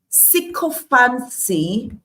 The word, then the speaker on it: sycophancy: Sycophancy, and yes, that's the correct pronunciation of that word.